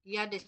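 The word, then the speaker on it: jedes: ইয়াদেস ইয়াদেস ইয়াদাস ইয়েদেস ইয়াদাস এ উচ্চারণ ইয়েদেস করবেন সবগুলো।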